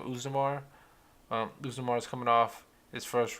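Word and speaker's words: Oezdemir: But first fight, Daniel Cormier versus Usnamar. That's how you say his name, Usnamar.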